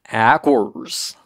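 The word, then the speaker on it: Aqours: The English word Aqua. It seemed like that's what they were saying in the English.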